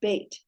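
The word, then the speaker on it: בית: So remember the beit with a dageysh mark, in that this dot, dageysh, has the B sound, beit.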